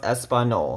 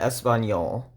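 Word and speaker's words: español: that would be pronounced espanol not espanol because nye is pronounced like if you put an n and a y together in english now show you my keyboard again alt 164.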